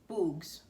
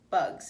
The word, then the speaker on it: bugs: "Bugs," he said. "Good," said Stanley. "Remember, it's a short U if there's no E at the end.